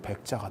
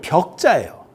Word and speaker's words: 벽: 풀을 백자 한자를 그래서 풀을 백자가 다 있나? 풀을 벽자예요. 벽을 발음이 경상도뿐이라서 백자가 나오는 거야. 백자가.